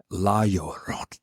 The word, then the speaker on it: La Llorona: Richard, can you pronounce it now? La Llorona.